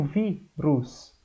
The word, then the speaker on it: vírus: Por exemplo, vírus. Vírus termina com us, a sílaba mais forte é o vi, então vai acento.